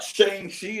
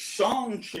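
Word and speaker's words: Shang-Chi: need to pronounce our name correctly it's not shangi it's Shan Chi you better pronounce our name correctly it's like that everyone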